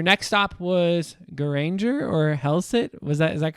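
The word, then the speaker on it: Hellesylt: um so your next stop was ganger or hellset was that is that correct I feel like you gave me a little cheat on the pronunciation there yeah so it's helit but very close to ganga say okay what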